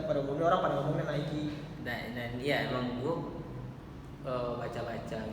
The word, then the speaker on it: Nike: Nike Cortez.